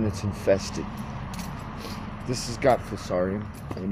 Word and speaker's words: Fusarium: It's also got Fusarium, that's correct pronunciation, Fusarium Crown Rot.